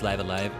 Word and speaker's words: Live A Live: I thought it was live alive. You know, like you used to two pronunciations of that word. But no, I saw the katakana for this and it's raibu araibu. So I think it is live alive.